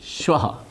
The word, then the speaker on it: श्वः: स्वह, ये उच्चारण देखिए, ये श्वः, श्वः मतलब टुमारो, कल, आने वाला कल। स्वः मतलब स्वर्ग। ये उच्चारण से इतना अर्थ भेद है, इसलिए हमें ज्ञान देते हुए उच्चारण करना। स्वः सड़क वाला है, दंत्य सकार, ये तालव्य शकार।